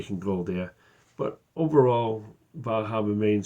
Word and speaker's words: Bar Harbor: It is pronounced Bar Harbor.